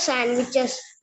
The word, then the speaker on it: sandwiches: Sand എന്ന് പറയില്ല, സാൻഡ്വിച്ചസ്. സാൻഡ്വിച്ച്, SAN which, സാൻഡ്വിച്ച്. D pronounce ചെയ്യില്ല, സാൻഡ്വിച്ച്.